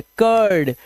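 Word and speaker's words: curl: Cooled नहीं है। कर्ल इसे बर्न।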